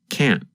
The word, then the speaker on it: can't: harder to hear and it just sounds like this can't in American English we call that a held T instead of pronouncing the T your tongue just comes to a stop against the hard part of the roof of your mouth just behind the Upper Front Teeth maybe we'd better say